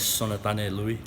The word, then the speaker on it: Sonatane Lui: Well, to start out, you have to pronounce it one more time for everybody out there. My full name is Sonatane Lui.